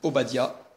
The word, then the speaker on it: Obadia: Testament Abdias un prophète qui en hébreu se dit Obadia et qui peut qui